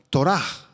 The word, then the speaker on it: Torah: Es la palabra hebrea Torah, con H al final y acento en la A. Torah.